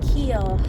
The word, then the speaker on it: Keel: But it's Randy Keel Honda, which Keel is how you say our last name, and it's spelled exactly like our name, and so that is hilarious.